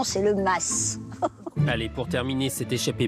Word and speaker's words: Mas: Et attention, pour ceux qui hésitent encore ou qui n'auraient pas tout à fait l'accent du Sud, il n'y a pas de doute à avoir sur la prononciation. Oui, moi je dirais le Mas. Ah, moi je dis le Mas parce que je suis du Midi. Le Mas, en Provence, il n'y a pas d'hésitation, c'est le Mas.